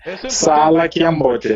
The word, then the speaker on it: Sala Kiambote: Sala Kiambote. Exato, Sala Kiambote, Sala Kiambote. It's a prolonged A.